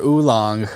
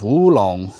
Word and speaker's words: oolong: I use the nomenclature oolong which is o o l o n g and that's like um improper it's um the pinion is woong the W and lapsing is just kind of a bastardization mispronunciation ofing Shan XA Jong which